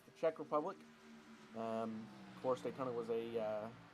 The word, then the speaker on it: Czech Republic: It's the Czech Republic.